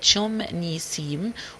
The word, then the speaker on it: Sham el-Nessim: It was originally pronounced Chum-Nissim, with Chum meaning gardens and Nissim meaning meadows.